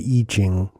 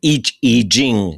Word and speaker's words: I Ching: I've always heard it referred to as the Iching, but the Iching. Yeah. Uh, that's right. The E the I is act I say I ching because that's how most people but each eing is the right pronunciation.